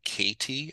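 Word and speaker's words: Koethe: I became really interested in a poet named John Katie. It's spelled, his last name is spelled K-O-E-T-H-E, whom I believe lives in Wisconsin.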